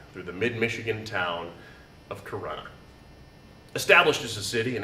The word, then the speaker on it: Corunna: You see, it's actually pronounced Corunna. Corunna, not Corona, the cerveza served with lime, consumed in mass quantities every Cinco de Mayo.